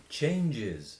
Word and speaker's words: changes: to but surgical change changes changes so we have saying yes change change changes changes because everything that ends in the sound in the plural extra syllable change change changes change